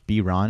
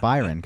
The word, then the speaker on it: Byron: an email 604 park I don't think that beer on is pretentious but switching it is pretentious because you think it sounds better like that's a little that's the way it is no it's pronounced Byron no family I really y or no it